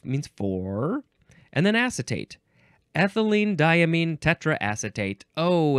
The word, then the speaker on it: ethylenediaminetetraacetate: let's try this one ethylene diamine tetraacetate okay you break it down it's not so hard ethylene diamine uh diamine you can also say diamine people like that too tetra I think